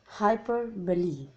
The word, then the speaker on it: hyperbole: first one is hyperbole please pronounce it properly it's hyper believe now this is that